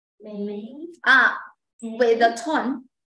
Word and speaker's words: 美: Mei. In Chinese is Mei. China is very beautiful. 中国很美. Singapore very beautiful. 新加坡很美. Mei. Mei is the tone. Mei. Like similar pronunciation like hey, day, bay.